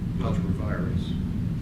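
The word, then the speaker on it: ultra vires: But, how do you pronounce it, David? Ultra-virus? Ultra-virus.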